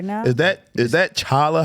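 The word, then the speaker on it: challah: Is that Is that chala? How do you say it? Chala bread. Hala.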